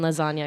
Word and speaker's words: lasagna: That's why the G is silent in lasagna, because he's sleeping off of that. That's why. He's got too sleepy to say the G in lasagna.